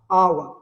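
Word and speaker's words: hour: इसके साथ साथ आवर का जो प्रोनाउंसिएशन होता है वो किससे होता है, स्टार्ट आवर। यहाँ पर आर भी साइलेंट है, एच तो साइलेंट है ही, तो इसके पहले जो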